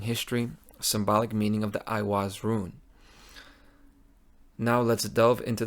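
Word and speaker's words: Eiwaz: Now, the name itself, Iwaz, comes from the word you. It's simple phonetically. It's you, it's an E.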